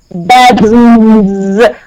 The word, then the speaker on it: bedrooms: Yeah, we have one bedroom, but two bedrooms. We are having S ending, which will be pronounced with Z.